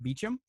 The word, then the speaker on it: Beauchamp: ancestors how they spelled it but that still pronounced Beecham and so I'm watching it I hear them